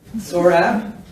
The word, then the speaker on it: Sohrab: jipner I have a friend who's named Sohrab and what he does is he says you know like sore abs saw rap and people go oh